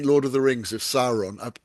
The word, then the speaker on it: Sauron: Yeah, yeah, I mean, it wouldn't have been Lord of the Rings if Sauron. I only learnt recently yeah. he's pronounced Sauron, not Sauron.